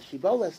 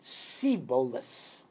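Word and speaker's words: shibboleth: were like litchfox they had difficulty pronouncing shin so they could not say the word she bolas they would say it sibolus and if they could not pronounce it if they would say sibolas they were ephraimites and they would be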